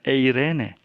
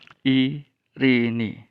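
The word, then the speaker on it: εἰρήνη: dan regasa daftar diatas tetapi cara membacanya bukan Irene ada membaca Irene Irene Irene dan segala macamnya tapi bunyi ucapan yang benar adalah ihr ini i ri ni ya Hai karena Ita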